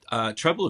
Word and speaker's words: Treblle: said it was Treblle, which It is Treblle. I shouldn't make fun of the name, but it's so hard. I don't know how to say it. I've noticed that in the notes, it doesn't like the way that it's spelt. Sorry, Treblle. It's 2 L's, 1 B. For those that need to know, or those that need to put it into Google.